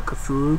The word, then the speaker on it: Cthulhu: He directed one of my favorite films of last year, and that was The Call Girl of the Cthulhu.